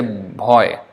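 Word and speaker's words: ভয়: So how to say, like bhaya, they say bhoy.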